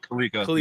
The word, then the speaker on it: Kaliko: Was it Kaliko? Is that how Yes, you Kalika. Yep. Kaliko? I said it right.